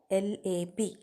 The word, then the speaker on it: LAB: Yes, yeah, it is lactobacillus or LAB, lab. It is called shortly pronounced as lab.